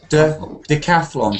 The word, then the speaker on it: decathlon: Decathlon. So stress the calf.